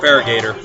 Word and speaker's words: Feraligatr: You don't have to try and get And I love Feraligatr, which I can't remember how you say his name, but I've always called him. Yeah, Feraligatr. I always call him Farragator.